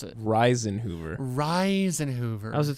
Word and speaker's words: Risenhoover: Well, how do you pronounce it? Reisenhoover. Reisenhoover. How's it spelled? Risenhoover. You were calling him Rosenhoover from that?